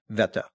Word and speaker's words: Wetter: We were in a town called Wetter, or as would be pronounced here, Wetter. It's Wetter. But Germany it's pronounced Wetter.